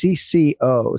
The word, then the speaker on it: CC0: crypto split space uh written cc0 but pronounced CCO so he will be